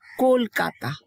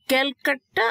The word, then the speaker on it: কলকাতা: তো ক্যালকাটা আসলে বাংলা ভাষাভাষীর লোকরা ক্যালকাটা বলে না, বিদেশি উচ্চারণে ওদের কলকাতা বলতে কষ্ট হতো বলে ওরা কলকাতাটা উচ্চারণ করতে পারে না, ক্যালকাটা বলতো, সেটাই ওরা লিখতো এভাবে ব্রিটিশ পিরিয়ডে।